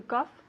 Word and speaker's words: cough: do you do to cough exactly okay just say it one more time for me to Cuff two Cough took off exactly okay so remember that F sound at the end to cough all right